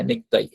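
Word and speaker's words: ネクタイ: উচ্চারণটা আসে না হ্যা তো নেকতাই মূলত হ্যা নেকতাই তো কুটা কয় মত উচ্চারণ হবে নেকতাই নেকতাই মানে মূলত যেটাই আমরা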